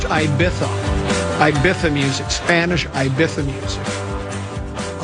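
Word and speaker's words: Ibiza: Apparently, it's pronounced Ibitha.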